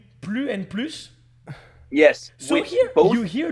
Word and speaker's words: plus: The difference between more is you pronounce the S at the end, but I know that sometimes you don't, and I can't think of when, but I know that sometimes.